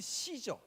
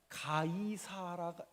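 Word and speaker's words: Caesar: 워낙 유명한 사람이에요 율리우스 시저 이건 영어식으로 발음하면 시저가 되고 우리나 라틴어 그 로마식 발음으로 하면 가이사가 됩니다 다시요 영어식 바람으로 하면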